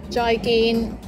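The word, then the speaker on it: 再見: joy kin jai gin joy geen this also means goodbye remember both of the syllables joy and gain are both mid flat tones try again if you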